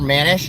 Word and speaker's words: Manish: It's spelled M A N I S H. Manish. Manish. That's it's how that's the name. Manish.